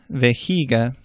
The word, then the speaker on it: vejiga: J sounds like an English H almost. It's not quite as far back in the throat. Javier, vejiga.